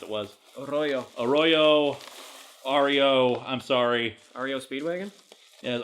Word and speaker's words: Arroyo: I mispronounced his name last time, and so I don't know what he said the correct way to pronounce it was. Arroyo.